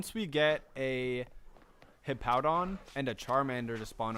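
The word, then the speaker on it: Hippowdon: Yeah, it's it's Hippowon.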